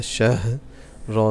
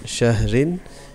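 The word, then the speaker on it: شَهْر: And we're gonna spell it like this: Sheen fatha ha shah ra sakin. Shahr. It's not shahrin, it's shahr.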